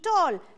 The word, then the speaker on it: tall: en inglés escribimos ball, se escribe ball, pero su sonido es O, es ball, significa bola, tall, alto. Ok, entonces aquí puedes ver, y su pronunciación es ball y tall, pero no te confundas, se escribe con A, pero suena O, ok.